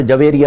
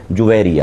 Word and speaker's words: جویریہ: یہ اردو میں ایک عرف ہے اور اس کو اردو کا عرف کہیں گے جو متداول ہو گیا، رائج ہو گیا، ورنہ عربی تلفظ کے اعتبار سے یہ جیم کے پیش کے ساتھ ہے جویریہ.